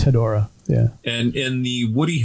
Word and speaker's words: Hedorah: Is it Hedorah or Hedorah, or what's the pronunciation of the Smog Monster? Should be Hedorah.